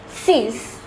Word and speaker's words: six: spelled the same as in English it is pronounced as Seas the number seven is pronounced as Seth the